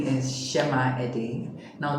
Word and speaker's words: Tsema: Hello everyone, my name is Tsema Ede. Now don't be deceived by the T in front of the name. It's a native Ishekiri name. That's why it's pronounced Tsema.